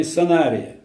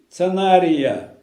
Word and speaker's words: Санария: находится царство по имени Санария. Объясню, что означает слово Санария. Большинство ученых, которых я слушал, работы, которых я читал, говорят цанары, цанария. Это не соответствует действительно, совершенно неправильное произношение. Сана, санария.